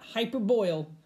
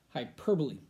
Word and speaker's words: hyperbole: Not hyperboil, hyperbole. People say it wrong. I don't know why. Hyperboil. No, not a thing. Hyperbole.